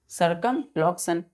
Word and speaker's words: circumlocution: इसका प्रोनाउंस क्या करते हैं बच्चों हम लोग? सरकमलोक्शन।